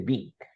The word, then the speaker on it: being: pronuncia la E, simplemente Bing.